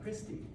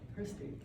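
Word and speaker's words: cristae: Its name is, these folds are called Christi. Christi. But it's not spelled like you think.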